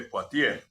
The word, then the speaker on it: Poitiers: importantes son el primero sanario de potier se escribe poitiers San Hilario de potier